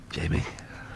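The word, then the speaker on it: Jaime: hot girl's name yeah especially when it's spelled j i j a i m e Jamie that is a hot girl's name anyway you're deviating some I'm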